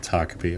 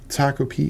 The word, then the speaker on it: Takopi: I've heard his name pronounced a few different ways, but we're going to go with Taki.